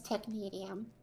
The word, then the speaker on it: technetium: To be fair, I think actually Sokol replied and said it was technetium. It's T-E-C-H-N-E-T-um.